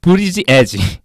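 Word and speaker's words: Buttigieg: 갑자기 그게 아니고 발음이 실제로 어려워요. 다시 한 번만 해주세요. 피트 브리지 에지.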